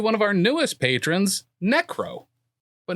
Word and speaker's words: Neckro: And thank you to one of our newest patrons, Neckro, but not spelled the way you think it would be. Is it like neck and then like row a boat?